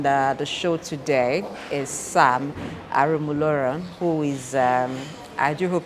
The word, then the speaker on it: Aromolaran: Sam Aromolaran. Yes. Okay, yes. Yeah, you sound, you pronounce very well.